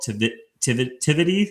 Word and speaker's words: Tivity: Coupled with her personal roots in hospitality, her father owned a premier catering catering enterprise in Dallas, Emmy built Tivity, am I pronouncing that right?